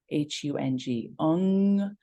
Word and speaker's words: Hung: words if you will though you might hear it as three syllables h-u-n-g so hung what's powerful about a lot of Sikh chants is that that NG at the end of many words it causes a vibration to move through the body it doesn't